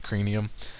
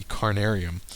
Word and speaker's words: Carnarium: And I'm thinking I can do the Ophi and the Cranium. Sorry, I always mispronounce this one. It's the Carnarium.